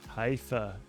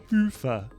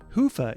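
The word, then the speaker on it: Hyvä: to Commerce is sponsored by hia or as the Europeans say hoofa or the right way to say it hufa is rapidly becoming the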